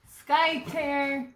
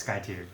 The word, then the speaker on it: Skytear: have but yeah this is going to be Sky tear Sky tears Skye tear okay it's good that's tear like a tear a piece of paper I know but it's pronounced Sky tier oh like a tear yeah okay Sky tier